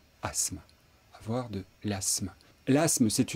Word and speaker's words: asthme: asthme avoir de l'asthme qu'on entend souvent prononcer asthme mais il faut dire asthme avoir de l'asthme l'asthme